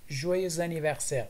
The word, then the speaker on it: Joyeux anniversaire: اگر میخواین بگوین میگن Joyeux anniversaire, joyeux anniversaire, joyeux anniversaire, joyeux anniversaire. و اینجا لیزون و چرا اکس ایکس تلفظ میشه؟ به خاطر که انیورسر با ا شروع میشه.